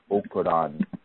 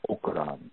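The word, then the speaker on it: Okanran: And that particular Odu is Okoran Meji. Okoran Meji. Okoran is O-K-A-N-R-A-N. Okay, Meji is spelled M-E-J-I.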